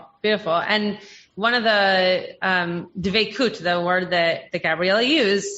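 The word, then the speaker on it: דבקות: And one of the dvekut, the word that Gabriella used, some of you might know as dvekis, because it's used a little bit more in the Ashkenazi pronunciation.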